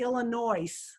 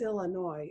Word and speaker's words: Illinois: You are right, the S is silent. Thank you. Howdy. Oh, in Illinois. Yes, some people say Illinois, and it's Illinois.